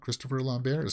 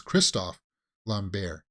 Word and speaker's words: Christophe Lambert: It's not Christopher Lambert. See, I thought that's also the way that they pronounced it in the title, Christophe Lambert.